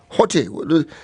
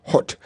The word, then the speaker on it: Hotte: the manner in which Hotte, his name is Hotte, H-O-T-T-E. Is it hot? Hot. If it's French, it's hot. The last letter of the word you don't pronounce, unless it has an accent.